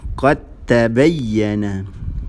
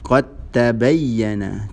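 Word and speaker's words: قَدْ تَبَيَّنَ: Qad tabayyana. Qad tabayyana. Cara bacaan dia macam mana? Memasukkan huruf pertama yang mati ke dalam huruf kedua yang berbaris. Sehingga menjadi satu huruf yang bertanda tasydid.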